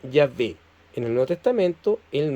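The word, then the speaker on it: Yahvé: en donde viene Jehová los hebraicas han llegado al acuerdo general de que la pronunciación original debe haber sido Ya ve en el Nuevo Testamento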